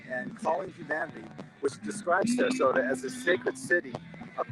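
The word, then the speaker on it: Ceresota: The sign was for Sarasota flour, with Sarasota being spelled C-E-R-E-S-O-T-A, but being pronounced Sarasota.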